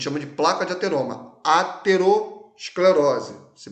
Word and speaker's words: aterosclerose: tá a gente chama de placa de ateroma aterosclerose se pronuncia assim agora a arteriosclerose a interior esclerose